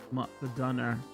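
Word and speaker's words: McDonagh: Now it's Finn Balor versus DJ McDon, pronounced McDonough.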